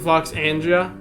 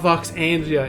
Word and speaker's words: Voxandra: It's not Voxandria, it's Voxandra.